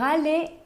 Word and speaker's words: aller: Nesse início, por exemplo, pour aller en France. Pour aller en France. Essa palavra aller termina com um R que não se pronuncia. Aller. Aller. Né? Não é aller, é aller.